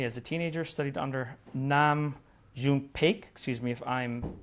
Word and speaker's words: Nam June Paik: He immigrated to Germany as a teenager, studied under Nam June Paik, excuse me if I'm pronouncing No, that it's incorrectly.